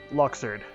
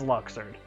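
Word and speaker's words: Luxord: this list as for charity yes this applies luxured yes i pronounce it as luxured first want to give me one million dollars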